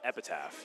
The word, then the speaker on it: Epitaph: Wait, how do you pronounce Epitaph? Epitaph.